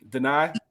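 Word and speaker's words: Danai: But the woman from Black Panther, Denai, I believe is how you pronounce her first name.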